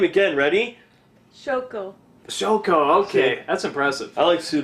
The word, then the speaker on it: Shoko: Shoko.